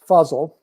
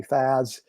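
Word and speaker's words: Fazal: correct one well uh my given name is fuzzl which is uh spelled f-a-z-a-l-e but it's pronounced fuzzle like puzzle so some people call me fuzz for that reason some call me faz uh so i answer to anything as long as you're calling me to dinner as the old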